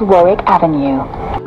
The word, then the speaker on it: Warwick Avenue: to elephant and Castle the next station is Warwick Avenue this is Warwick Avenue exit here for Little